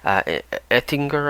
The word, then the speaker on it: Ettinger: Jesse Eisenberg, Adrien Brody, Odessa Young, and Philip Ettinger, I believe is how you pronounce his name, Ettinger.